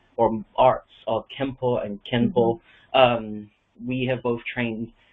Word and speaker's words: Kenpo: spelling of it is k-e-n-p-o but when a p comes after an n in romanizations of japanese it makes the m sound like senpai so it is pronounced